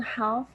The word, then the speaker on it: half: the plane leaves in half an hour half an hour half an hour yes this word here we don't really pronounce the l the l is silent so we say have